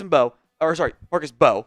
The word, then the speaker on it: Mbow: First up is the Purdue offensive tackle, Marcus Mbow, my bad, the M is silent, who is, I think, is an underrated player right now.